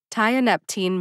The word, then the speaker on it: tianeptine: are not my forte tianeptine makes sense to me so I recommend that you say tianeptine too in your lifetime you